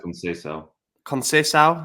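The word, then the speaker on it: Conceição: of the season and it's Sergio conal it might I think that's how you say it I thought it was cona cona that could yeah because I think it has a squiggly line underneath the sea which makes it sound like an S but I genuinely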